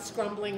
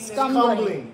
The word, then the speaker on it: scumbling: CR was talking about scrumbling his painting. Scumbling. Scumbling. Scumbling. No R.